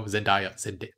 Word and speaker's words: Zendaya: and yeah, more Zendaya, so Zendaya, I said it right before, but then got confused.